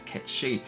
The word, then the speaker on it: Cait Sith: did represent Casey's name as it was meant to be pronounces cat sheep so it says here